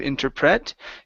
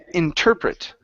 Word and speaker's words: interpret: the word interpret okay the stress is right here in the middle instead of interpret okay interpret interpret good I could